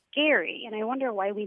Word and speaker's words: Gerry: learned that the person who it's named after pronounced his name Gary and I wonder why we never said Gary